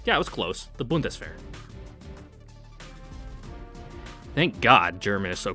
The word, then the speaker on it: Bundeswehr: Pronunciation. Turn it up. Bundeswehr. Okay, yeah, it was close. The Bundeswehr.